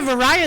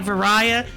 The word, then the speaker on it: Varia: a fancy word like Varia, you should come up with a fancy word for the gravity suit as well. Pronounced like that because it's supposed to be the barrier suit.